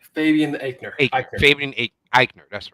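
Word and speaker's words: Fabian Aichner: good team with Imperium, leaving how do you pronounce that guy's last name? Fabian Eichner. Eichner. Eichner. Fabian Eichner, that's right.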